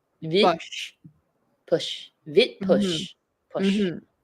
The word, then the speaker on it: vide poche: close, but there's no accent on this E. Forgot. I forgot what else the E sound like. Vid. Vid. Vid. It's And now vide. you pronounce, and then you emphasize the D, right? Because it's like Yes. the T, it's like the S earlier, so it's the Yeah. vid. Vid. So it's vid Vid push.